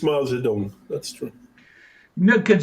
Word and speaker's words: Zedong: And yes, it's Mao Zedong. That's true. No, because it's like I'm old enough to remember when it was Tong and then it became Dong, and I can